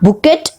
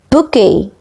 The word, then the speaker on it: bouquet: Please see to the pronunciation. It is not bouquet, it is bouquet.